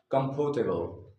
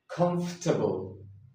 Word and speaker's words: comfortable: Nine out of 10 are going to say comfortable. But that's the incorrect pronunciation. The correct pronunciation of this word is comfortable.